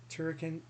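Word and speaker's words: Super Turrican: And what about Super Turricon 2? Did I pronounce it right? Turricon?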